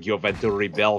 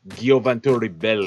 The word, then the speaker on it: Gioventù Ribelle: tu l'appelles, le jeu, c'est pas le Gioventus Rebel comme je t'ai implé jusqu'à date, c'est Gioventus Rebel, eh? C'est ça, il y a une prononciation avec le E-L-L-E à la fin.